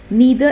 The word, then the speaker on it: neither: You can pronounce the word as either and either, neither and neither. That is the difference between UK and American English.